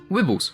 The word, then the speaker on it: Wibbles: you're really here for wibbles pronounced like nibble they're rather popular pet